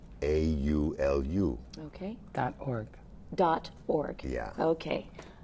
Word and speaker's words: Awaiaulu: Spell that for everybody. It's AWAIAULU.